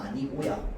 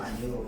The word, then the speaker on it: 아니오: 근데 얘를 발음할 때 이요랑 아니요로 발음하는 거 그래서 어여 대여 피여 이요 아니요. 얘네 개가 얘네네 개가 전부 뭐냐면 인정되는 겁니다. 인정. 표준 그니까 원래 원칙 발음은 아니고 인정되는 발음인 거야.